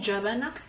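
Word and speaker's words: gebena: it's called jabana. Here, Mhm. I'll spell it here. G-E-B-E-N-A.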